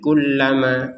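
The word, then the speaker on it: كلما: Kalau berhenti seperti barusan alanhar berhenti kemudian lanjut di kullama dan seterusnya. Kalau digabungkan juga tidak apa-apa. Min tahtihal anharu kullama. Nah, seperti itu. Kullama lamnya ditekan kulla. Kemudian dipanjangkan dua harakat.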